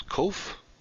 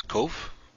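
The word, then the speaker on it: קוף: got a descender and it is pronounced k as in king just like our cough the car for the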